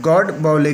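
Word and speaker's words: Godbole: Next देखिए professor Narayan गॉड बॉयले, कैसे pronunciation करना है दे रखा है प्रोनाउंस्ड गॉड बॉयले करके।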